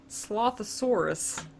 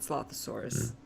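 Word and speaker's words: Slothasor: And Slothosaurus. Not Slothosaurus. Slothosaur. It's not a dinosaur.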